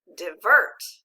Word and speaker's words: divert: arc and a circumflex if we read that first syllable let's do it together di and the second syllable vert now let's read it with the accent divert great job now say these